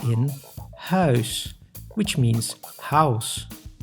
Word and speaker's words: huis: U plus I makes ui, like in huis, which means house.